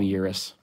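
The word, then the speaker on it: Xyris: Is the X silent? I don't know. We'll just call him Eurus. His X is silent.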